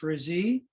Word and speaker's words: Razee: She says her last name is pronounced Razee, and Jennifer Razee lives in Wilmington, Vermont.